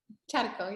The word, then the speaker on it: Charco: Because I know that it's pronounced a little bit differently. Charco, yeah.